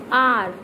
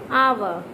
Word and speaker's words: hour: the silent mode of H letter while the pronouncing. Okay? I just give you example. Just notice this. Honor, honor, honor. Hour, hour, hour.